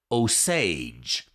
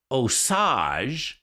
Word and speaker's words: Osage: was now I know how to say it osage but if you if you say it Asajj then you take the raw sausage exit and